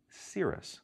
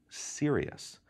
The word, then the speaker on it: serous: this to the parents it's important to pronounce that word correctly it's Cirrus not serious it's unfortunate that these